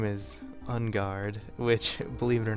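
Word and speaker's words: Enguarde: some stupid illiterate kid always pronouncing his name Unguarde. I didn't get like Unguard, like a sword.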